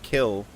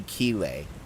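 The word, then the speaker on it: Kille: I knew her long ago in Paris when her surname was not kill. It's probably Keel. Ke, but it's it's spelled K I L L E.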